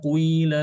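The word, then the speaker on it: قيل: Wa idza qila lahum memang pengucapannya itu harus dimoncongkan dulu ya. Kui tapi setelah itu langsung sedikit aja. Qila wa idza qila lahum seperti itu.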